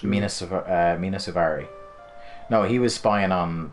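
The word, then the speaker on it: Mena Suvari: Mina Suvari? Mina Suvari.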